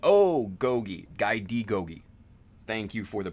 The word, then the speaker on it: Daigogi: Guy D. Gogi. Thank you for the pronunciation.